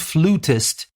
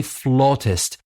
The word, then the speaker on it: flautist: We don't say flute, flutist, as we said piano, pianist, guitar, guitarist, cello, cellist, violin, violinist. Flute, we say flautist. And the word is spelled differently. We spell it F-L-A-U-T-I-S-T, flautist, not flutist.